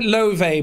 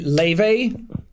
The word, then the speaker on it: Laufey: They say to she says to say Laufey, but Laufey? because it's Laufey or Laufey because it's an Icelandic the A and the U in Icelandic is kind of like one letter.